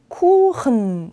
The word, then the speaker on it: Kuchen: 얘는 kuchen. 독일에 막 흐흐 하는 발음 많이 들어보셨을 것 같아요. 얘가 바로 그 주인공이에요.